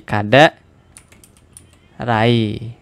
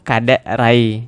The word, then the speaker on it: Kadek Rai: Karena ini bisa saja dibaca menjadi kade krai gitu, bukan kade rai.